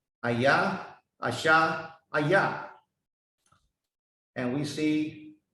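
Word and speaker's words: אהיה: It pronounced Ayah, Asha, Ayah.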